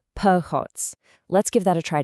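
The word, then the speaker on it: փողոց: In Armenian, it's phots, and it's pronounced phots.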